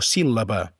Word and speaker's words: síl·laba: Se pronuncia com dues L's seguides, com per exemple pel·lícula o síl·laba.